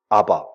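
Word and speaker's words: אבא: 아버지, 구약 성경에 기록되어진 히브리어나 또 신약 성경 시대에 있었던 헬라어, 글자는 다릅니다만 그러나 발음은 똑같아요. 아바.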